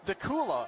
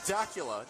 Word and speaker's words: Dacula: learned that it's pronounced dakula and not Dacula does that rhyme with Dracula no but tequila that was a nice